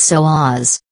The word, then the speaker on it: psoas: what is your Sohus the correct pronunciation of the Sohus is so AHS the Sohus is literally